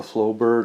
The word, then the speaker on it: Flobert: in the middle it's uh a flow bird airflow bear I believe is the pronunciation of it from the